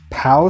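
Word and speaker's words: Peow: closing and I think it's pronounced pow Studio it's p-e-o-w um and so I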